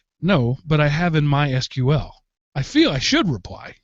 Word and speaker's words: MySQL: am so here goes the official way to pronounce mysql is mysql not mysql but we don't mind if you pronounce it as mysql or in some other localized way these are the